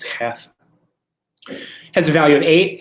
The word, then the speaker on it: Cheth: that uh you know it's not chaff right it's half has a value of